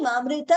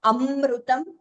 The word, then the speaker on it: अमृत: ख इज़ महाप्राण अजानी अमृत Rupam again there अमृता please note the pronunciation it इज़ नॉट अमृतम there is no second म there and इट इज़ नॉट